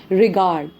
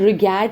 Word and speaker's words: regard: However the word रिगार्ड, जैसे REGARD है, इसकी प्रोनाउंसिएशन US एंड UK दोनों में सेम रहेगी, रिगार्ड. रिगार्ड रिगैड नहीं बनेगा.